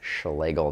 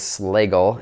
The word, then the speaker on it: Slagle: Some people think it's Slagle Design, but it is not. It is Slagle. It is the American way of respelling the German name when it came over on the boat.